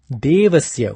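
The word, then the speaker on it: देवस्य: On the contrary, Devasya does not have a H after it, the D alphabet. So this should be pronounced as Devasya without the force. Pronouncing it as Devasya is wrong.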